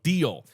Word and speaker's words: Deel: are Rippling and deal deal is spelled de or sorry deel so deal so these two they're